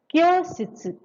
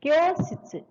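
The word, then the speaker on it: 教室: Say kyositsu. We learned this kanji in N5 lesson. So kyositsu, meaning is classroom. Once again say kyositsu. Kyositsu. This is long pronunciation.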